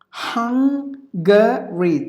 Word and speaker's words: Hungary: Hungary. 3 syllables. I'm so sorry. So 3 syllables. Hungary. You have to give the stress for the first syllable.